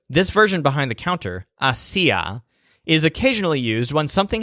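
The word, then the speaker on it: hacía: what I can see the stress syllable si goes with the word hacia which is the imperfect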